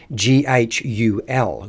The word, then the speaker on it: ghoul: That's right, Ghoul, or if we look back at some of how the pronunciation had changed over time, it was actually pronounced Ghul, Ghoul.